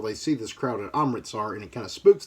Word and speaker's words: Amritsar: Let me make sure I'm pronouncing that correct. Yes, Amritsar.